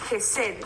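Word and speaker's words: hesed: define como amor esed jesed se escribe h e s e d el amor jesed que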